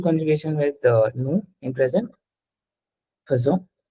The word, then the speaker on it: faisons: no in present faisons this is not pronounced as aison ठीक है it's called faisons it's an exception in pronunciation this is called nous faisons faisons it's not faisons don't say it as faisons yes so what is the